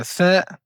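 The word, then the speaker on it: ث: semblable au t ici pour prononcer la lettre th nous devons mettre le bout de la langue sur le bout des incisives supérieurs.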